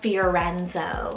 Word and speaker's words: Fiorenzo: it literally means island life then we have fiorenzo spelled f-i-o-r-e-n-z-o fiorenzo and this one means blooming just like